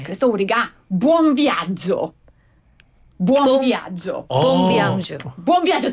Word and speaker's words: buon viaggio: 그래서 우리가 buon viaggio. buon viaggio. 봄비앙주. buon viaggio. 따라해보세요. buon viaggio. 미안하죠. 즐거운 여행 되세요. 본비앙주.